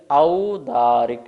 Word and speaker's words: औदारिक: तो यहाँ पर ओ नहीं है, ध्यान रखेंगे। औदारिक है, क्या है, औदारिक।